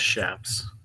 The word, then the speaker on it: chaps: It's pronounced shaps.